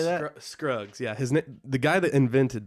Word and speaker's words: Scruggs: Scruggs.